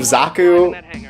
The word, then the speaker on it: Zaku: of like bad romanization they say zach instead of Zaku get into that gun